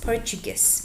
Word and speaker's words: Portuguese: the pronunciation po CH the T is like a ch ch it's a t but with sound puges portuges very good and